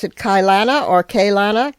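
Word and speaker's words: Keilana: Emily Templewood, al also known as do do you do you pronounce it Kylana or Kana? K Kana.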